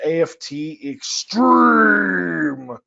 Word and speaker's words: AFT xStream: is the webinar on aft extreme that we'll be discussing today and yes that's actually how you say it i just want to